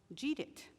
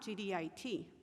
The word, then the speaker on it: GDIT: the contractor's name correctly it is um jeetit and i went i've never heard of them and she said it's not gdit i said oh it